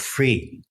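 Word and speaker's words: freee: backed a company called free it spelled like you know freedom is free but with three E's triple e's at the end and uh for three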